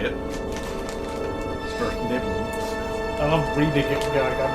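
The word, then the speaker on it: Svirfneblin: Svertneblin.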